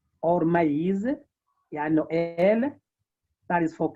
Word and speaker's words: maïs: And this means that whenever this accent is used, you are supposed to pronounce the affected syllables or independently. For example, on the word Noël, Noël, or maïs, yeah, Noël, that is for Christmas, Noël, and maïs for maize.